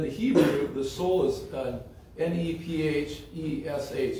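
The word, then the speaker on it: נֶפֶשׁ: But in the Hebrew, the soul is N-E-P-H-E-S-H.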